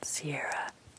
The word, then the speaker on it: Ciara: well I'll tell you it's called Ciara spell c.i.a are a but pronounced do you know like the mountains the High Sierras you know I don't